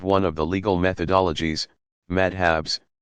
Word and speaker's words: madhab: Students in a madrasa, pronounced madrasa, pursue a curriculum built around the teaching of one of the legal methodologies, madhabs, pronounced madhab, and eventually receive credentials, a kind of license, as professional religious scholars.